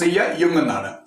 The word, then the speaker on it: Jung: psychology of Jung, that means Carl Jung, Jung, pronounce Jung.